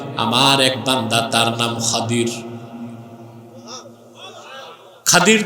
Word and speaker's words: খাদির: এক বান্দা, তার নাম খাদির। খাদির তো বুঝেন নাই, যাকে আপনারা বলেন খিজির, ওনার নামটা কি? খাদির, বিফাতহিল খা ওয়া কাসরিদ দাদ, খাদির। আমরা বলি খিজির, এটা ভুল উচ্চারণ। শুদ্ধ উচ্চারণ কি? খাদির।